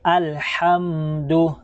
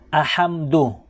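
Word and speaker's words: الحمد: Kasi pag bibigkasin po natin yan ng makapal ay ang tunog niya ay maging alhamdu. Okay, alhamdu. So ang tama po ay alhamdu. Tapos po yung iba, maririnig po natin sa kanila ahamdu.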